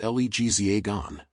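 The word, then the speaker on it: L'Hexagone: The French call their country the Hexagon, French, Lexagon, pronounced Legzagon, because of the shape of their land.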